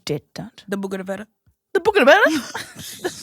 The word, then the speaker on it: bougainvillea: The bougainvillea?